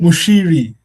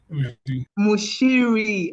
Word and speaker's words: Muchiri: Mushiri. Mushiri. Okay. Please pardon my uh pronunciation.